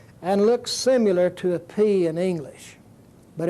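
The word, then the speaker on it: πι: called it pie but technically the word is pronounced P just like the English letter P would be pronounced and it's pronounced like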